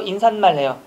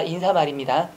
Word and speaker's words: 인사말: 이러나요 극단적으로 이 얘기하면 인사말 발음해 보세요 인사 말해요 인산 말해요 인산 말이잖아 아닙니다 인사말입니다 민 친구가 될것 같은데